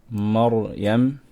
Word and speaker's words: Maryam: Okay, we have ra sakin, before it is a fatha, we can pronounce the ra strong. Maryam, we're not going to say Maryam. Maryam, la, Maryam. Make sure your ra is strong here.